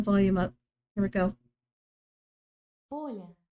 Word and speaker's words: Оля: Оля. Olya? Oh. Oh, no, no, don't undo that. Go back. Damn it. You're still trying to spell 2 syllables instead of 1.